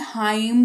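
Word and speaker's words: hymn: एन है एन है last में एन के ठीक पहले एम है तो हाइम नहीं हाइम पढ़ा जाएगा इसको ठीक है आगे बढ़ेंगे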